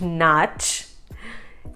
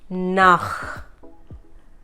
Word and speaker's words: nach: No, it's not nach. Yes, it is nach. Nach. Again, from the epiglottis.